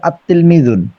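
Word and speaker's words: التلميذ: হবে লেখার ক্ষেত্রে কিন্তু পড়ার ক্ষেত্রে লাম উচ্চারণ হবে না যেমন তিলমিজুন পড়ার ক্ষেত্রে হবে আত্তিলমিজন জি আব্দুল্লাহ ভাইয়ের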